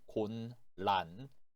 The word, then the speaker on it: 곤란: 자, 음음 변화 주의해 주세요. 쓸 때에는 곤란, 읽을 때에는 곤란이라고 읽어주시면 돼요. 자, 여덟 번째 단어는 골치, 골치.